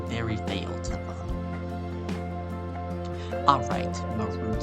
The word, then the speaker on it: Marud: Actually, his name was Marud. That's how you say it, Marud. M-A-R-U-D, Marud. Like, you're rude.